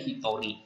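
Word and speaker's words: 一人: kanji orang Nah kalau itu dibacanya menjadi Hitori nah kanji hitonya itu dibaca RI ya sedangkan kanji satunya itu dibaca Hito nah sedangkan kalau dia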